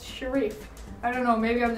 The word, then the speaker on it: Sherif: I always find the name Sherif mildly amusing because it's spelled like sheriff, but it's Sherif.